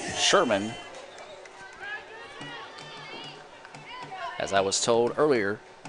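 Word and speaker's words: Scheuermann: u ER M a in in but his pronounced Sherman as I was told earlier she stands the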